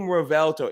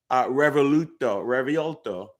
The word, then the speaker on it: Revuelto: But if you think about a more literal native translation of the term revuelto, or V is pronounced B in Spanish, right?